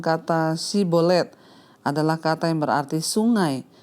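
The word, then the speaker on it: שיבולת: memakai tes pengucapan kata si Bolet adalah kata yang berarti Sungai orang ifraim mengucapkan si sebagai S sehingga tentara-tentara yfta bisa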